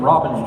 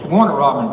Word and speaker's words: Warner Robins: Every morning you say we're from Robbins, Georgia. It's Warner Robins, Georgia.